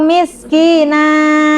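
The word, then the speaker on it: مسكينا: A miskina au miskina ya. Kalau tulisannya an ya tapi diganti dengan fathah. Yang ketiga potongan ayat 3 surah Annas tawwaba.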